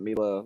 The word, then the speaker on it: Mila: it i mean mila she does pronounce that mila kind of if you think of mia stander for volleyball but with an l mila that's how she does prefer to pronounce it she's not the